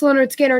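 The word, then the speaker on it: Lynyrd Skynyrd: and second album live completely it was uh pronounced leonard skinner and then second helping they released that i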